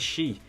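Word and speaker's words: 四: unlucky in Japan and the word for the number four in Japanese is she which is also the same pronunciation as death so they try and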